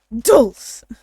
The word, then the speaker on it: Dulce: I can But get- it's Dulce, do like an actual duh. Yeah. You have to put the emphasis on the duh. Dulce.